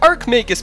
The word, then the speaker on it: Archmagus: to be looking at the ark make this mod yes that is actually how you say it I checked and it